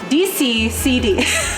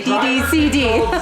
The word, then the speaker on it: DCCD: Say it right in the video. Okay, DCCD. I can't ever say. I always want to say DDCD.